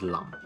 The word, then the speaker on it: 林: And in Cantonese, that character is pronounced as lam, or lamb in English, and is commonly translated to mean forest or wood.